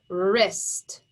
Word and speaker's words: wrist: now you're checking so here's the word wrist we hear the r sound at the beginning we know that has to be a w r if yours is correct